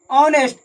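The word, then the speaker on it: honest: ऑनेस्ट ऑनेस्ट ऑन से start हो रहा है। इसलिए इसका उच्चारण स्थान वोवेल से शुरू होता है।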